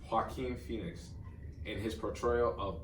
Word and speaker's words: Joaquin: I thought that Joaquin Phoenix, let's say it right, Joaquin Phoenix, in his portrayal of Arthur Flick, aka